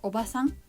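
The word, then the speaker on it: おばあさん: is obasan means aunt there is only one a between b and s for obasan but when you put double a between b and s it's pronounced obasan and then the meaning will be grandmother other examples are ojisan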